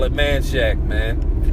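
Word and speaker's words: Manchaca: Like some people don't know how to pronounce Manshack. We call I've always called it manshack but some people call it manshaka or manshaka you know but uh I've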